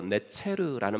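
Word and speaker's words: נצר: 왜냐하면 이사야서 11장 1절에 그 가지 나무에서 가지가 난다 그랬때 그 가지가 히브리어로 네체르라는 말인데 발음이 나자르라고도 발음이 돼요.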